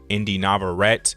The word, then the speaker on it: Inde Navarrette: From the actress Inde Navarrette is how you pronounce her name.